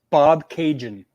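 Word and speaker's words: Bobcaygeon: Bob Cajun. Bob Cajun. That's pretty easy. Don't pronounce the E.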